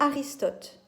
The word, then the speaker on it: Aristote: L'auteur grec qui va poser les fondements de la tragédie, au 4e siècle avant Jésus-Christ, c'est Aristote, comme ça se prononce, A-R-I-S-T-O-T-E, dans un ouvrage qui s'appelle La Poétique.